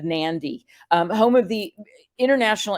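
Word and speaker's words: Nadi: us they made the airport code Nan so it kind of is a trigger to remember to put that n in there but when you're talking to your client sound smart they're going to nandy um home of the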